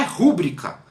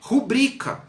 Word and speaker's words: rubrica: rua pública está errado a pronúncia não é rubricar a pronúncia é rubricá e é por isso